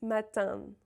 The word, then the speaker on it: matin: There's a lot of ways to spell un, but the important thing to remember is, again, the M or N is never pronounced. Matin and not matin.